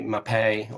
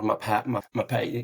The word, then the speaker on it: Mapei: to go to the MAPEI, or that's how I pronounce it. Probably in English it would be more MAPEI.